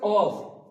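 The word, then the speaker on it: ق: তারপর হচ্ছে কফ। এখানে কফ উচ্চারণ হবে। এখানে একদম যেখানে দেখছি এটা হচ্ছে আলাজিবি জীবের শেষ প্রান্ত এবং আলাজিবির কাছ থেকে মানে জীবের একদম শেষ অংশ থেকে উচ্চারিত হবে অফ এটা বলার সময় উপরের তালু উপরের বলতে পারেন এখানে যে আলাজ আছে ওটার সাথে বা জীভের শেষ অংশ উপরের তালুর সঙ্গে লাগিয়ে উচ্চারিত হবে অফ অফ অফ তারপর কাফ কাফটা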